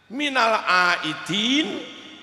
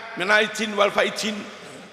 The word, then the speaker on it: minal aidin: Minal aidin. Halo. Minal aidin. Wal faizin. Terkadang dalam pidato, orang mengatakan minalidin wal faizin. Apa yang disebut " sering". Pastikan yang pertama adalah dal, yang kedua adalah zai.